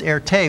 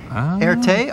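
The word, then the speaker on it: Erté: referred to himself as Erte, which was the French pronunciation of his initials, RT. Erte, RT.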